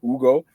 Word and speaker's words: Hugo: Um, some someone that uh Griffin put me on, Hugo Gonzalez or Ugo as his name is pronounced.